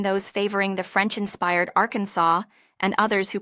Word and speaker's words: Arkansas: A dispute arose between those favoring the French inspired Arkansas and others who pronounced it are our Kansas.